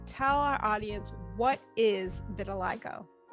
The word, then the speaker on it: vitiligo: our audience what is vitiligo vitiligo first the pronunciation of it was hard we had to learn um the doctor said think of little i go and change that to victor like go and so we had